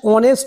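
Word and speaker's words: honest: নেক্সট question Rambabu is ডশ অনেস্ট ম্যান। উত্তর হবে এন। কেননা এখানে এইস কনসোনেন্ট হওয়া সত্ত্বেও এইস এর উচ্চারণ উচ রয়েছে এবং ভাওয়েলের মত উচ্চারণ হচ্ছে।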